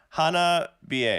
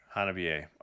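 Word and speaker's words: Hanabie: oh here you go hard bro says hana ba is that is that i pronounce that right so yeah hannah b.a hanabi a okay i'll say that from now on i've been saying it wrong the whole time see i'll be ready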